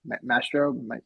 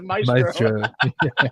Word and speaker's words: Maestro: I forget, it was FA Maestro or Mastro, the character Maestro. I always say his name wrong. It's Maestro. Maestro.